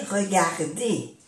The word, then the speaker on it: regarder: R de un verbo se pronuncia E.